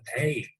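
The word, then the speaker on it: Ayds: Those were called AIDS. 1 year later, a first case of AIDS was detected. Although it spells a bit differently, it is pronounced the same.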